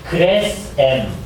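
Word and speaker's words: Gresham: 네, 우리가 그레샴이라고 발음하는데 자기 이름을 그레스엠 또는 그레스햄이라고 발음하라고 했어요. 그래서 발음을 그렇게 해야 됩니다.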